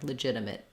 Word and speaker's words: legitimate: then often you'll hear we don't say legitimate with a strong T at the end we often just use a stop T there legitimate legitimate um yeah and